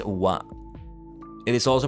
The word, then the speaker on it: は: it in the background it is pronounced as wa it is also pronounced